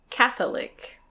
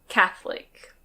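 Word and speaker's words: Catholic: This one can be pronounced "Cath-o-lic". Cath-o-lic. But we usually say "Cath-lic".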